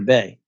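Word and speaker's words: Bae: Bay, but we spell it B-A-E instead of B-A-Y, just to sound a little more hip for the millennials and the Gen Zers.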